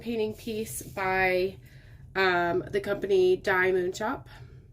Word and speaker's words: DIYmoonshop: This is a round diamond painting piece by the company DIYmoonshop. I like to say DIYmoonshop, but I believe that they do pronounce it DIYmoonshop.